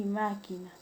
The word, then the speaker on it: máquina: Y una palabra es esdrújula o proparoxítona cuando la mayor fuerza de voz recae en la antepenúltima sílaba. Tenemos el caso de lógico y máquina.